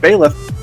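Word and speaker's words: Byleth: next DLC character with the fire emblem pronounced bailiff she believed it but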